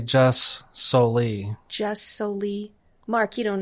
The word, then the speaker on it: jus soli: How do you say it? Well, I would say jus soli.